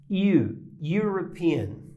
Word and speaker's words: European: eu tenho European né tem que prestar bem atenção na pronúncia European European né European então país europeu European